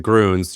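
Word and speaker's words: Grüns: It's Gruns.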